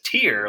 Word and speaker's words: tear: Or in this case, in sentence C, that's actually pronounced as tear, like you have a tear in your eye, like you're crying.